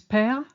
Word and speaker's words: père: many nouns and adjectives to indicate an open E sound, especially before a silent final E. For instance, père, which is father, and mère, which is mother, have an accent to ensure the correct pronunciation of the E as a E.